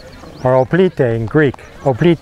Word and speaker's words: hoplite: That's where we get our name from, hoplite, or hoplite in Greek. Hoplite, the H is silent.